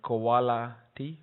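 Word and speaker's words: Qoala-T: And there are tools like MRI QC and Koala T, I guess it's supposed to be pronounced as quality, that can help you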